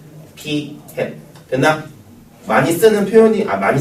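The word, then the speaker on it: p̂: 저 모자 비슷하게 생겼기 때문에 햇이라고 읽을 겁니다. p 햇. 됐나? 많이 쓰는 표현이 많이 쓰는 게 아니고 정해진 표현이니까 요건 알아야 돼. 자, 읽을 때 뭐라고 읽고? p 햇 의미는 표본 비율이란 뜻이고 n분의 x란 뜻입니다.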